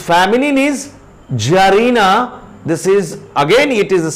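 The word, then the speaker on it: czarina: C or T is silent, it is not pronounced. So Jar, masculine, and its feminine is Jarina.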